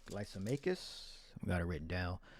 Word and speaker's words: Lysimachus: I believe the main generals were like Lysimachus, we got it written down, Cassander, Ptolemy, and Seleucus. You don't pronounce the P, it's Ptolemy.